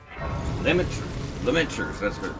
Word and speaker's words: Lamenter's: So going on down Lamenters, that's how you say it, Lamenters jail.